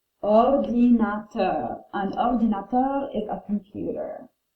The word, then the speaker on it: ordinateur: It's a masculine word, so we pronounce it un or di na ter. Ordinateur.